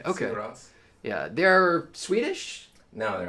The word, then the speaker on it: Sigur Rós: How do you say it for real? Sigur Rós. Yeah. Okay. Sigur Rós.